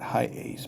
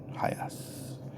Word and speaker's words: HiAce: guess highest Toyota hiace I'm pretty sure that's how it's pronounced not high Ace but hi ass and this is one